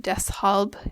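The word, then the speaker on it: deshalb: so in the word Des hob there's a little bit of a break between the S and the H in your pronunciation Des we have uned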